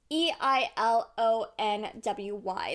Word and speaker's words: Eilonwy: The most difficult name for me to pronounce would probably be Eilonwy. It's Eilonwy.